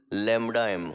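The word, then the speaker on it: Λm: It is pronounced as lambda m, although it doesn't look like lambda, but you have to pronounce this as lambda m, molar conductivity.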